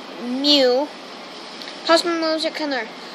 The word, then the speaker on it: Mew: Pronounced Mew.